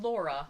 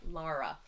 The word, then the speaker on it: Lara: Not Laura, Lara.